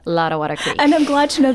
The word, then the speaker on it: Lottawatta Creek: I appreciate you giving me the opportunity to say Lottawatta Creek. And I'm glad to know that I was pronouncing it right.